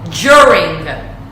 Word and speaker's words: during: The correct pronunciation is during, during. Not during, because Italian people tend to say during. No, is during. So this is the phonetic way of writing this sound, DJ, during.